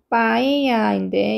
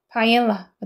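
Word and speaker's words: paella: 그다음에 파이아라고 했어요. 그러면은 바에아인데 이제 영어 발음은 바엘라가 되는 거고요.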